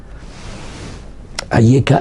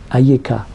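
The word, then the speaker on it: אַיֶּכָּה: aussi c'est Alf yudf et la différence elle est dans la prononciation parce que il y a trois petits points en dessous du youud quand ahem il me parle aeka il y a trois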